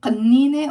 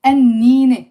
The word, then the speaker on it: قنينة: very, very nice area, they will probably say qannine, or I'm not sure how they will pronounce it, with a q or a qa, qannine. But we say, like in most Lebanon, we say annine, bottle.